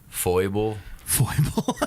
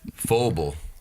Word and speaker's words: Faubel: It could be Faubel or Faubel, Foible, foul ball. I've Fabble. I've heard Fabble, but Faubel.